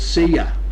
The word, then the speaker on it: Sia: She likes to be called Sia, like see you later.